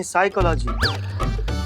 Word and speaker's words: साइकोलॉजी: तो साइकोलॉजी नहीं, साइकोलॉजी। P silent होता है।